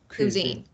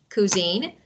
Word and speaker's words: cuisine: If you want to know the stress, no, the second part is stress part. Cuisine. Cuisine. So the second syllable is a stress.